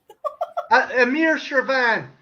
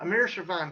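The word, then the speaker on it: Amir Shervan: that that's not right amir chervan that's the guy's name i was pronouncing that amir sir van persie obviously not an english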